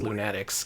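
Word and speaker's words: Loonatics: There there was going to be a Lunatics game. And believe it or not, despite how it's spelled, it is pronounced Lunatics because that's how they said it in the cartoon.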